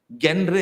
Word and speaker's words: genre: Genre. You might mispronounce it.